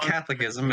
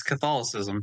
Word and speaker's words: Catholicism: It's not Catholicism. It's Catholicism. That's how it's pronounced.